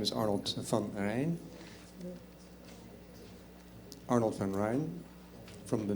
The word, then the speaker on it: van Rijn: My last name is V-A-N-R-H-I-J-N. Difficult name, but it sounds like the River Rhine.